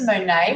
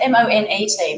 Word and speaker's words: Monet: better i was thinking is it like the painter monet with the silent t over that's one e two t's i think no it's m-o-n-e-t monet so i was